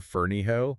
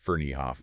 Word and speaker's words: Ferneyhough: And our main source here is Darren Ferniho. That's pronounced Ferniehoff, by the way.